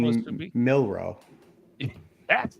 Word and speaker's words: Milroe: Milroe.